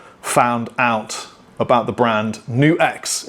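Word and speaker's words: NUX: Anyway, today we're at Play Vintage because this is where I first found out about the brand New X. It's pronounced New XDAM, not Nukes.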